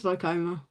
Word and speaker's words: Vekoma: Vekoma. Oh, yeah. It is Vakoma.